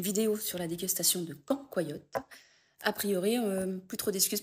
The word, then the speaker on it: cancoillotte: Donc maintenant, si vous faites une vidéo sur la dégustation de quand, quoi, yotte, a priori, plus trop d'excuses pour bien le prononcer.